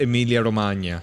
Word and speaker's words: Emilia-Romagna: I didn't know about Emilia Romagna.